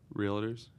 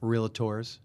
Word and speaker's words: Realtor: what are they called Realtors Realtors realators you ever hear they go realator that's an annoying one it's spelled that way